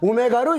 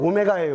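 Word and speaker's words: omega: 여기다가 오메가로 이렇게 쓰면 돼요. w라고 읽으면 안 돼요. 오메가예요.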